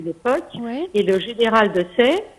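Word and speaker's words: Desaix: et le général de Sey, ça s'écrit avec AIX à la fin, de Sexe, et qui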